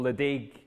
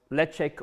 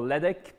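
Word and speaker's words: Ledaig: start with a whiskey most people will call leig but that's not really the way you pronounce it uh you had to pronounce it or the way I've heard was leek or LEC uh probably depends who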